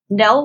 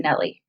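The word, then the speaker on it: Nelle: She was worried people would pronounce it Nelly because of the E.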